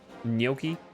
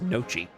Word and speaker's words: Gnocchi: Did you know it's pronounced Gnocchi. gnocchi? Gnocchi? I hate saying it because it's definitely I thought it for the longest time it was nochi. But no. It's not. Gnocchi.